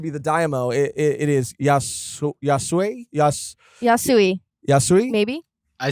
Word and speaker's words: Yasuie: then it's Yasu, and help me with the pronunciation, Paravision. Once he's revealed to be the Daimyo, it is Yasuie, maybe. I say Yasuie.